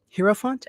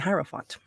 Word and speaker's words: hierophant: the emperor um which I've heard it pronounced both ways hero font and hierophant okay and this one